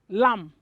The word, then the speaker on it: lamb: here are the words lam you don't say lamb the word is lam dom thum kom death doubts you don't pronounce the b in this words we have silent b